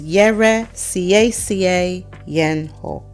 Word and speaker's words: Yɛresiesie Yɛn Ho: So in total, it is Yɛresiesie Yɛn Ho. That is how we pronounce it.